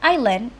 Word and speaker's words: island: In the word island, Indonesian speakers often pronounce it as is. Another contributing factor is spelling pronunciation. Indonesian speakers may perceive island as is. And because English uses a silent s and silent ah in this word, learners often map the written letter s directly onto the sounds s.